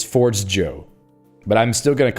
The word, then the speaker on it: Forgejo: J Joe what no this says they say they pronounced it Forge Joe inspired by foro the espiranto word for Forge okay now we have our answers it's it's Forge Joe but I'm still going